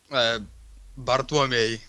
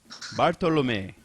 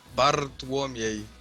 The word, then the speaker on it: Bartłomiej: Bartolome. Did I get it? Yeah, but nearly close. Say it again. Bartłomiej. Oh my God! You got to roll the R, and then there's just weird syllables after that.